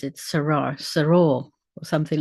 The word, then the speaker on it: Sarah: The accent on the last syllable with clear vowels as they are in Spanish."